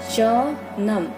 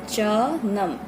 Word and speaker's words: chanam: Garlic मतलब लहसुन, इसको मणिपुरी में कहते हैं चनम। CHNAM, नम। मैं इसीलिए ऐसे प्रोनाउंस कर रही हूँ क्योंकि आपको नया क्या